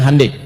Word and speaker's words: Hyundai: Ya, ya Hyundai saya tahu bahasanya dibacanya Hande, ya.